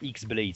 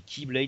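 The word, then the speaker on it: χ-blade: Oui, parce que ça se dit pas X-Blade, ça se dit Keyblade, mais ça s'écrit K.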